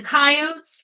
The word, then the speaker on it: coyotes: The coyotes, Ruth said, pronouncing the word like she always had with two syllables.